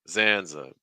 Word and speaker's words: Zanzibar: us how you pronounce Zanzibar that middle syllable take on a schwas just reduce zanza zanza the stresses on xan so that means you're taking three steps down it's like Zanzibar Zanzibar Zanzibar just a